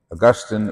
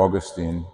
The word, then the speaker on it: Augustine: and so did Augustine Augustine or Augustine depends on where you coming from to pronounce his name and he left he